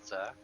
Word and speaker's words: Vasa: Vazer is the one. Vasa. Yeah, Vasa. Basically like water, right?